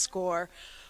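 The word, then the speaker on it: SCOIR: will be sending test scores to Arkansas that's a whole another ball game okay Bishop Kelly uses the score program and even though it's spelled s c i r it is pronounced score it's Gaelic don't ask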